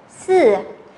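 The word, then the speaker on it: 四: Sư, sư, sư.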